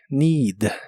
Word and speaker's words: need: need que significa necesitar la doble e se pronuncia como una I larga o doble need need y usaremos el